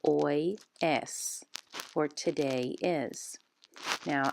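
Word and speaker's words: hoy: spanish at the top so the blue h is silent of course all the ages are silent in spanish and you say oy es for today is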